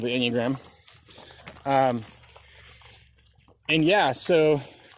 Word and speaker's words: Enneagram: Enneagram? Yeah, Enya. So Enya. Oh, like the singer. Yeah, Enya is 9. Oh yeah, that's right. And gram is diagram, so it's a diagram of 9.